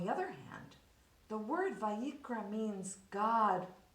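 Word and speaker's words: ויקרא: The word Vayikra, the name of this book, ends with the silent letter Aleph.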